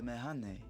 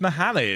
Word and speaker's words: Mehane: Good masala from the Mehane. Oh, it's pronounced Mahane, is it? Oops. I've been pronouncing it wrong for over a year.